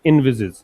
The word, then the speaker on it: envisage: इसका प्रोनाउंसिएशन क्या है? इनविजिज।